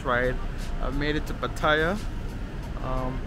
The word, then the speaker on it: Pattaya: Pattaya, that's how you say it.